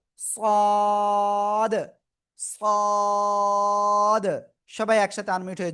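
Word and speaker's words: ص: এই যে অক্ষরটা এ অক্ষরটা মোটা আওয়াজে উচ্চারণ করতে হবে। ওই একই জায়গায় জিহ্বার আগা সামনে নিচের দিয়ে দাঁতের পেটও আগার সাথে লাগিয়ে মোটা আওয়াজে আমরা উচ্চারণ করব। সদ সদ।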